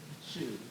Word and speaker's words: Shu: I pronouncing that correctly Shu Shu very nice like a shoe box I assure you you'll